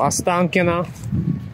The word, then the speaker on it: Ostankino: It's called Ostankino Tower.